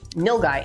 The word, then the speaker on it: nilgai: And those researchers argue okapis are instead more specifically related to the nilgai antelope. Is that how you pronounce it?